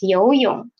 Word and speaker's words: 游泳: Then 游泳, the second one is 泳, third tone. What should we do? We will read it as half third tone, right? So it is 游泳, 游泳.